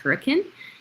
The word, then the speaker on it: Hurricane: Um, we have managed homes in hurricane, which is spelled hurricane, but it it's pronounced hurricane.